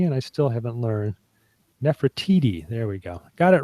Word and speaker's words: Nefertiti: keep correcting me and I still haven't learned Nefertiti there we go got it right finally so